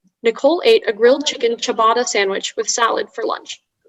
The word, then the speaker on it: ciabatta: the information uh sure so ciabatta is the only pronunciation the noun from italian